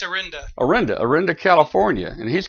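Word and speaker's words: Orinda: 6r from Areno arinda how do you say that rich yeah it's arenda arenda arenda California and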